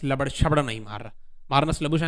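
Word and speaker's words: Marnus Labuschagne: मार्नस लबुशन है उसका नाम, मुझे बोलना आता है।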